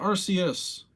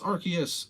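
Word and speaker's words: Arceus: if I didn't archus no it's not arus it's archus I swear if anyone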